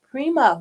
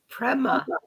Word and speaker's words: Prema: she's going to tell us all about it Prima welcome to the show Prema Prima still said it wrong how to say